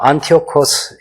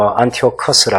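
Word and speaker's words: Antiochus: 또 왕들 가운데는 셀레우코스 1세도 있지만 또 안티오코스 1세, 2세, 안티오코스라는 이런 것도 다 헬라식 이름입니다. 다른 영어로는 안티오커스라 그렇게 하기도 하고 안티오쿠스라 하기도 하고 발음을 다양하게 하지만 헬라 제국이니까 헬라식 표현으로 그렇게 제국의 이름이나 왕조의 이름을 통일하면 좋겠다는 생각으로 제가 고쳐서 다 정리를 해두었습니다.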